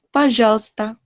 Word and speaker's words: пожалуйста: Пожалуйста. Jadi L-nya langsung ke S.